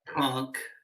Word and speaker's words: conch: we pronounce conch like crotch with an N.